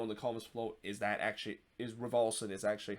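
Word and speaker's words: Raveloson: I thought it was pronounced Revolution, but then the more I hear it, especially from the Galaxy feed, it's been pronouncing Rivalson.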